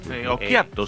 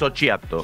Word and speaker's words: Occhiato: Occhiato se pronuncia. No, pero le dice. No es Occhiato.